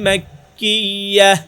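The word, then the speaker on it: مكية: সূরাতুল ফাতিহাতি মাক্কিয়াতুন, এবার মাক্কিয়াতুন এখানে আমরা ওয়াকফ করব, মানে থেমে যাব, ওয়াকফ করব। ওয়াকফ করলে তখন গুল তা এটা হা সাকিন হয়ে যাবে, হা সাকিন হয়ে যাবে।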